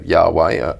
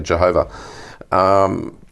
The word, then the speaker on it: Yahweh: it like the Jews actually they would only only use the syllables and without the vowels yes and so yhw H now some people fill it in and so Yahweh other the sort of extended say Jehovah but i think the